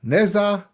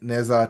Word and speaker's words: Ne Zha: saw Ne Zha 1 and 2, and it is pronounced Ne Zha, not Ne Zha like we thought.